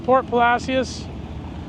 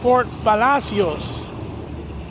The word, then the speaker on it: Port Palacios: We're in Port Palacios. It's actually pronounced Port Palacios.